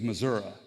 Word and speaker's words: Missouri: By the way, in case you're wondering, the correct pronunciation of my home state is Missouri.